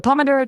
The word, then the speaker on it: pomodoro: The emphasis is on the do syllable.